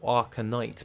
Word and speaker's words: Arcanite: are used to make arcanite bars or arca knight bars to actually pronounce that correctly and then we also